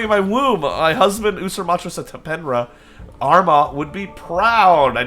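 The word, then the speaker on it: Usermaatre Setepenre: Usurmatra Setapenra.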